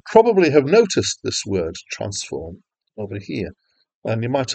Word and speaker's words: transform: this word is not transform with the emphasis on the second Sy but transform with the emphasis on the first syllable and it's a mathematical